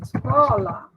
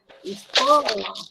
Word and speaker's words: escola: Então, por exemplo, eu falo escola. Então, assim, ó, escola, o có, que é a sílaba tônica, tá?